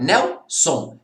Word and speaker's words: Nelson: Qual que é a sílaba tônica de Nelson? É o Nel, né? Nelson é uma paroxítona, é a penúltima sílaba tônica, né?